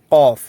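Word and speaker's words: قاف: কফ। এখন আরবিতে এটাকে ক বললেও আমরা বাংলায় এটাকে ক বইটা মিলিয়ে কম্বিনেশন করেছি। কারণ এর উচ্চারণটা হবে আপনার একদম ভিতর থেকে।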